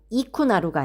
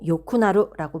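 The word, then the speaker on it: よくなる: 그리고 키모찌모 요쿠나루 여기서는 쿠나루가 붙었기 때문에 여기는 이쿠나루가 아니고 요쿠나루라고 발음을 해 주셔야 됩니다.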